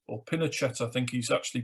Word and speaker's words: Pinochet: and the leader of the uh army general pinochet or pinochet i think he's actually pronounced uh established a uh regime that used